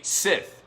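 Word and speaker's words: scythe: so in Looney Tunes he now has a sip that's the way you pronounce it right the thing that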